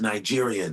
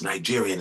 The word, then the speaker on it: Nigerian: they were like, I said, no, man, it's pronounced Nigerian. It's not nigga, it's Nigerian. It's a soft G.